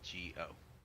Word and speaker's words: Shego: Shego. Just she go.